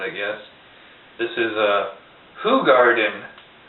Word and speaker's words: Hoegaarden: beer world renowned I guess this is a who Garden it's spelled oh Garden but it's pronounced who Garden in fact it even says how to pronounce